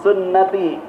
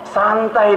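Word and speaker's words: سنتي: Cuman anak muda sekarang suka salah nih Bu bacanya. Sunnati kan hurufnya sin, nun, ta, iya. Karena nggak belajar bahasa Arab, an-nikahu. Ini apaan ya? Santai dia bilang gitu. Kan sama tulisannya.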